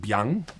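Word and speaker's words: 𰻞: Consider the most complex Chinese character I have ever encountered, pronounced something like biang, referring to a specific kind of noodle known in Xi'an, China.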